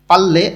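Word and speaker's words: 빨래: পাল্লে অর্থ কাপড় ধোয়া, রিউলের পরে আবার রিউল আছে, দুইটাই লয়লা উচ্চারণ হবে।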